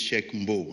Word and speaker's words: Cheikh Mbow: My name is Cheikh Mbow, not Mbow.